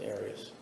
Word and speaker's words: Aras: You always pronounce it Aras. I've heard it pronounced about seven different ways. Um, I say Aras as does the rest of my family.